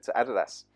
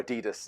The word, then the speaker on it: Adidas: what I described to Adidas, or Adidas, as the Americans say.